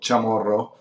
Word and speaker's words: Chamorro: schools of pronunciations because the first part chamorro is originally italian but it's spelled and pronounced in a spanish way so chamorro and the second part